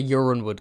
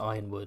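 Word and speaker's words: Yronwood: reach let me know yeah people saying they pronounce it Ironwood uron wood I was a uran wood guy I was like uran wood in my head and then I heard YouTubers pronounced it Ironwood and I was like okay Ironwood makes more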